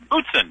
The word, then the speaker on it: Boutsen: Starting with my next guest, his name is Terry, how do you pronounce it, Boutsen? Boutsen, Terry Boutsen.